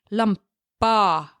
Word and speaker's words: lampa: Lampa, lampa. That's how you pronounce the letter A in Norwegian. Same thing you say when you're at the dentist.